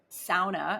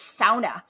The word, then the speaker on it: sauna: locations cold therapy in SAA as I've been corrected by some Finnish ladies in my DMs on Instagram she's like comes in a voice note you're saying it wrong it's sauna but they're like super